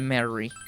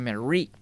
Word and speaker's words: Marie: Es que ya me acostumbré a decirle Mary. Le he estado diciendo Mary desde el principio del juego, entonces, por supuesto, ¿no? Pero bueno, ya sé que se pronuncia Mary, con acento en la I.